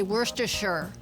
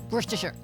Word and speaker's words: Worcestershire: It's like you're just sort of like saying, you just shut your mouth and just say Worcestershire. Just say it through clenched teeth. Worcestershire.